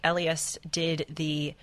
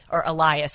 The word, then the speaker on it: Elias: I remember learning from your book that Mark Elias Elias, I should say. You said it was Elias, so I'm saying it wrong.